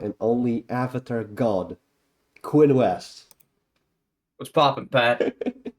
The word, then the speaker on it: Wuest: only Avatar God Quinn West what's popping Pat did they pronunciate your name correctly you know you got right yeah West that's that's you got